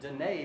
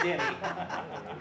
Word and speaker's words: Denny: I said, we've been pronouncing it Danae because it sounds richer. And Denny. she laughed and she went, it's Denny.